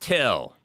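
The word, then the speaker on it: Thgil: Breed, but it's pronounced Till.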